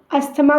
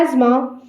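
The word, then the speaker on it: asthma: अस्थमा, अस्थमा को English में कहते हैं एज़मा। एज़मा, इसकी प्रोनाउंसिएशन पे ध्यान दीजिएगा, इसको हम अस्थमा नहीं बोलते, इसे हम एज़मा कहते हैं, एज़मा।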